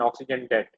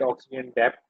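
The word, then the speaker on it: oxygen debt: Exercise, anaerobic respiration in mammalian muscles and ऑक्सीजन डेट। अब ऑक्सीजन डेट क्या होता है? Some students call it ऑक्सीजन डेप्थ। ठीक है, लेकिन इसकी एक्चुअल प्रोनाउंसिएशन है डेट।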